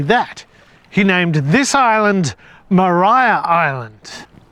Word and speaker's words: Maria: A Mariah Carey. Maria Van Demon. A Maria Van Demon. Wait, is it is it Maria or Mariah? It looks like it's spelled Maria, but it's pronounced Mariah.